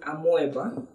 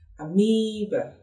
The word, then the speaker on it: amoeba: Most people call it amoeba. I actually don't know the set of language that started that amoeba. It's actually a bit funny, but the correct pronunciation for that is amoeba.